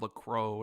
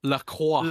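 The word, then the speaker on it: LaCroix: have this stuff called Lacro and like I've tried it before but it's like No, no, no, no, no. Rand, it's pronounced Laqua. Laqua. Is it Laqua? Laqua. It's French, bro.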